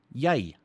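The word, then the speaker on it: jy: is as you can see it with me yay which is essentially you right which is essentially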